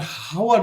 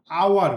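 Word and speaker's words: hour: Next, I will come after dash আওয়ার, I will come after dash আওয়ার, এইসটা আমরা হাওয়ার বলি না, আমরা কি বলি? আওয়ার বলি। সো আওয়ারের ক্ষেত্রে উচ্চারণটা কি হচ্ছে? আর মতন উচ্চারিত হচ্ছে, সেক্ষেত্রে আমরা কি দিব?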